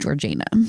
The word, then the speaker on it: Georgiana: When it looks like Georgiana, it's pronounced Georgiana. Georgiana?